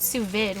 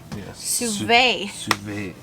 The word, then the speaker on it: sous vide: It's not sous vide. What is it called? Sous vide. Sous vide.